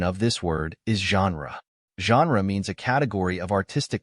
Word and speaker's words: genre: English it is spelled as Gnar the correct pronunciation of this word is genre means a category of artistic composition as in